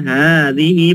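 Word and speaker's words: هذه: dua ini Muzakar nya Adapun muanasnya maka Hadi ingat ya Hadi panjang Hadi dan hatani Ini Hadi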